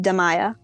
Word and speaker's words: Damaya: will tell you that her name is pronounced damaya like damn ayah thereby yeah i am